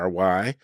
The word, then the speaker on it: Loury: My name is Loury, spelled Loury, but pronounced as if it were Lowery.